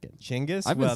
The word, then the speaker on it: Chinggis: Genghis. Yeah, that's Genghis's correct pronunciation. Which I refuse to say. It sounds racist. It sounds, I don't know, I kind of like it. Chinggis?